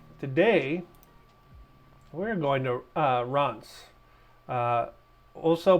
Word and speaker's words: Reims: Today, we're going to uh Ronz uh also pronounced if you are uh American Rees, but it's uh the French pronunciation is Robs.